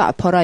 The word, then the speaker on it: opera: 그리고 복수형은 오페라 있죠, 오페라, opera, O-P-E-R-A. The Phantom of the Opera 할 때 opera. 그 이제 발음은 우리나라 말로 좀 소리가 웃기죠? 아퍼라 이러니까. 아프니? 이렇게 묻고 싶어지는 아퍼라는 발음을 갖고 있어요.